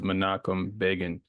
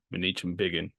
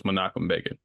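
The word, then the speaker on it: Menachem Begin: bot these men's names so the name is monum Bean not manich ban you will hear me say it wrong throughout the episode but so it's makum ban I probably got other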